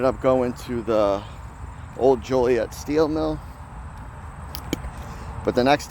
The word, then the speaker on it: Joliet: Yes, it is Joliet.